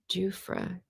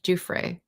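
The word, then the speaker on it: Giuffre: Jufre. Thank you. Julie's pronouncing it for me. Jufre. I think I was hearing it only with the podcast, and I was thinking it was Dufre, so I just did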